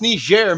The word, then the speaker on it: Niger: It's pronounced Niger, Mr.